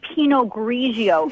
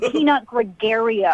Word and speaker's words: Pinot Grigio: You don't even know how to say Pinot Grigio. It's not Pinot Gregario.